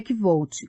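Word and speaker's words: Kvothe: orelha meu nome é que volte com pronúncia semelhante à de kohat os nomes são importantes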